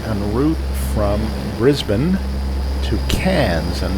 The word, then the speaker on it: Cairns: Brisbane to cans and that's spelled c a i r NS and I am reliably assured that that's pronounced cans Probably sounds better in the original Australian but it is not C s or or can it is apparently cans the reason why we